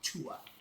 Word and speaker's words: Duat: You see that says the D, right? But they pronounce with a T. It's called the tuat.